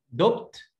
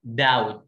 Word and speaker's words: doubt: دوبت ولا داوبت؟ الاثنين غلط، اسمها doubt، البي هنا سايلنت وعارفين ليه البي سايلنت، doubt يعني شك، doubt doubt.